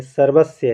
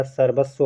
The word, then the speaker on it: सर्वस्व: ना और ये सर्वस्व ये सर्वस्य है सर्वस्य या नहीं रहेगा वा रहेगा सर्वस्व होगा सतत में अभी मैंने